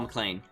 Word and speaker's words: MacLean: guy that I mentioned Paul MacLean okay pronounced the same way as McLean County Illinois okay and clean he followed